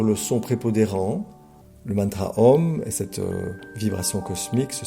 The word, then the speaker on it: Om: Om se prononce A ou M, donc tout ce qui